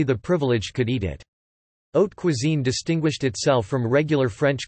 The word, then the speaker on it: haute cuisine: Haute cuisine, French, literally, high cooking, pronounced haute cuisine or grande cuisine, refers to the cuisine of certain kitchens.